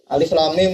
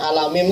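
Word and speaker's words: الم: mufasir kan repot ya Alif Lam Mim bacanya alam mim kan repot alam Al atau Kalau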